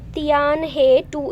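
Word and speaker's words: Tianhe-2: कह लो, या फिर अपना ये इसको क्या प्रोनाउंस करेंगे, तियान हे 2 इस तरह से बोलेंगे।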